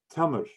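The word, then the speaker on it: تمر: the vowel sound tab and then on the meme in the middle of the word we place the second again the round little circle and that just means that there's no sound to it as in we stop on it right and then the ra comes so it becomes tamar it's like we're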